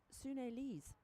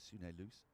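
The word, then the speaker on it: Sune Luus: Formerly known as Sune Loose. Sune Loose, voulez-vous. We were all told until we all learned that we'd all been saying it wrong getting it wrong for 10 years, yeah.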